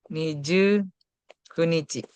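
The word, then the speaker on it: 二十九日: Ini ada beberapa pengecualian ya untuk tanggalan yang pasti berubah juga 19 sama 29. Kalau 9 kan Kokonoka. Hmm, Kalau 19 Ju Kunichi. Kok ini dia Ju Kunichi sama Niju Kunichi.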